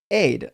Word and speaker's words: Ides: Mr. Brief says today is pronounced Aid.